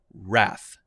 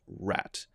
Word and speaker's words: wrath: fact that's not correct wrath has the th sound and it is pronounced as th at the end it is pronounced wrath not rat because if it were